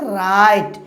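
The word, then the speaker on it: write: পারে এক্ষেত্রে কি হছে ডব সাইলেন্ট থাকবে ডব উচ্চারণ হবে না সেষেত্রে উচ্চারণটা কি হবে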